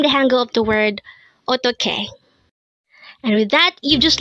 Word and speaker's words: 어떻게: EOTTEOHKE. EOTTEOHKE. This pronounces a three-syllable word. The first syllable is a, second syllable is to, and third syllable is ke.